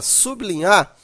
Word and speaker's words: sublinhar: uma pequena observação ó na palavra sublinhar né sub está seguido da consoante L há uma tendência a pronunciar BL tendência é essa que leva a pessoa a não separar o grupo O que é errado pois o l é consoante então a separação ficaria sub linhar desse jeito e não